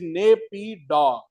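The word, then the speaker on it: Naypyitaw: It is Napa or Nap.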